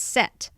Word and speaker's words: Set: SCT or SC th the Egyptians didn't pronounce that H so it's set okay and I see